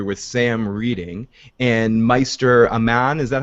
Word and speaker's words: Aemon: So we go to the library with Sam reading, and Meister Aman, is that how you pronounce his name? Aemon.